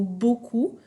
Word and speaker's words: beaucoup: ces eaux usées donc le paie à la fin du mot beaucoup il est muet je ne dois pas le prononcer peu utilisé le mot